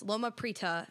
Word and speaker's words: Loma Prieta: And with this, because your main single off of this, Loma Prieta, if we're all saying that right, we were all talking about this beforehand, so we made sure we didn't screw it up.